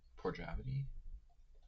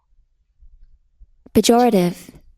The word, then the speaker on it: pejorative: Por- Porjavity? No. Pejorative. Pejorative.